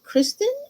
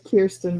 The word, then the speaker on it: Kierstan: So I'm gonna bring up Kristen, and did I pronounce that correct? Is it Kristen or Mm? no, it's Kierstan, but that's okay.